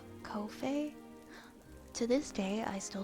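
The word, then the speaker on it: Ko-fi: It rhymes with no fee. Kofi.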